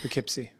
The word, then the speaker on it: Poughkeepsie: Is it Poughkeepsie in New York? Poughkeepsie. Poughkeepsie. Yeah, Poughkeepsie.